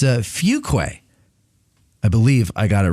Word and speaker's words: Fuqua: a z i learned uh and it's uh fuquay i believe i got it right he made me say it on the phone the other day he said now say it he's he goes it's pronounced fuquay and then he goes now say it and